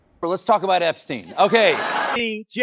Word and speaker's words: Epstein: In German, the letters I E together make the sound E, whereas the letters E, I make the sound I.